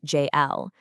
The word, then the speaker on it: Jael: By dropping into the calm, ancient voice of Jael, pronounced J-L, who acts as Ariella's inner guide, we're given a totally new directive.